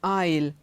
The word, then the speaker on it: aisle: of these words in Aisle Island islet in none of these words is s pronounced now let's look at